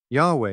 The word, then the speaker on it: Yahweh: or the four letters presently the widely acknowledged theological pronunciation is Yahweh although a commonly used